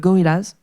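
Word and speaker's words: Gorillaz: my money was uh Gorillas. What was it? Gorillas. Okay. Gorillas. Yeah. Sorry. Yeah. I always say it wrong. In French we say gorillas.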